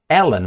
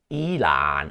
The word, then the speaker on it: Elon: and my training now Ellen musk oh I've been I've been told by someone that it's not Ellen musk it's Elon I was asked to